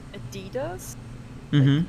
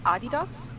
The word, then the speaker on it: adidas: stripes sports brand um but in german and the brand is german so in german uh we say adidas so the stress is on a different syllable that's how you say